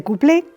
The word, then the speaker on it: cuplé: Se españolizó y se dice cuplé simplemente acentuado y con u.